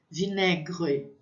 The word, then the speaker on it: vinaigre: Então, fica vinaigre. Aigre. Lembrando desse R, esse R é como se eu estivesse fazendo um gargarejo com a minha garganta.